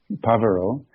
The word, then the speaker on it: Pavaro: Well, first of all, that last word after my name, or sometimes before my name is pronounced Pavaro, and then Bhikkhu is sort of means monk, I guess you could say.